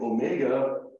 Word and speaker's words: omega: last one is omega Omega looks like a curvy w oo this and Omega has a long o sound as in Omega so always a note